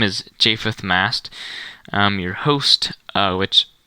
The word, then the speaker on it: Japheth: And to help you pronounce it, it's J5TH, like Japheth, not J4th, J6, but Japheth.